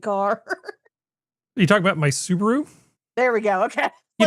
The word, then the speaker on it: Subaru: pick up from Reddit, one of the words that they almost never pronounce correctly is Subaru. Subaru. They always yeah. call it Subaru.